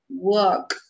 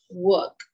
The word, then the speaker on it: walk: Walk. Ok, recordemos no pronunciar la L. Ok, entonces pronunciamos walk. Walk.